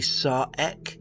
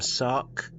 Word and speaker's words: Sarek: Some say Sar, others pronounce his hensing name Sark. The more mundane walk of life pronounce his name as Sarak due to this being how it's spoken during the episodes.